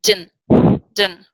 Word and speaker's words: didn't: So here, but what also happens is, for example, you look at didn't, and t tend to disappear. So very often, one of the most standard pronunciations of didn't is actually din, right?